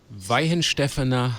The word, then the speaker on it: Weihenstephaner: Weihenstephaner Hefeweiße Bier.